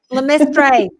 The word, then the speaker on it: LeMaistre: Did I pronounce it correctly this time? LeMaistre. LeMaistre.